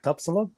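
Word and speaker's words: tapsilog: Tapsalog.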